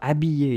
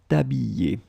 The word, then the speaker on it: habiller: And remember, we saw that previously, E followed by two L's, like here, will be pronounced like y, t'habiller, t'habiller.